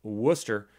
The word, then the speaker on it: Worcester: Worcester in 2016 and I know how to pronounce Worcester because we have one of them here in